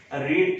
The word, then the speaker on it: read: First form भी यही है, सेकंड भी यही है, थर्ड भी यही है, लेकिन बोलने में रेड बोलेंगे।